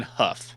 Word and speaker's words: Hough: Hugh? I'm pretty sure it's pronounced John Hough.